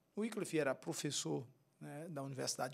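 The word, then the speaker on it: Wycliffe: nós temos na Inglaterra John wickle ou John wff como Alguns podem pronunciar wiff era professor né da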